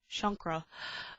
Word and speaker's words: chakra: in in uh cleansing chakras and the like which I think I should probably do a nice chakra balancing after this uh whereas it's actually pronounced as shankra uh I'm absolutely terrible